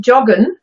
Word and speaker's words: joggen: quite the same, because although you probably recognize straight away, joggen, yeah, we kept the English pronunciation of the letter J, but we have Germanized it and got rid of the ing and put the German en, just like German verbs always are.